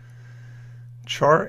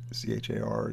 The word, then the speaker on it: char: right sometimes g a c-h-a-r and pronounce char instead of car or whatever so the character at